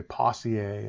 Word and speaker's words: Poiseuille: by the name of, people say his name differently, most people call it Poiseuille, although I understand that's not the way to pronounce it. Some people say Poissier and all sorts of other derivatives, but Poiseuille looked at resistance